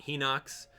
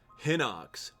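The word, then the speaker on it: Hinox: be really insane you can probably take out heox probably take out three heox uh you'll be all set hip doll it's pronounce hoox yeah yeah don't do it all right here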